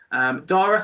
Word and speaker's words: Dara: That's how you pronounce it, Dara, yeah?